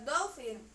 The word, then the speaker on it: dolphin: Terus number 7 itu ada dolphin. Ya kan? P dan H-nya dibaca seperti huruf F.